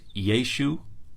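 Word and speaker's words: ישו: on the scholarship today Jesus's name in Galilean Aramaic was probably pronounced yeshu or yeshu without that little furtive potak accompanying the iron at the end there are some texts that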